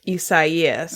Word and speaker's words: Isaias: The first time we heard it, we thought that the weather person had never heard the name Isaias before, but it was actually like Isaias.